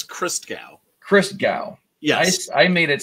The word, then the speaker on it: Christgau: You really need, and there is an I between the T and the G, so that you can get that extra syllable in there. Christgau. Christgau. It's Christgau.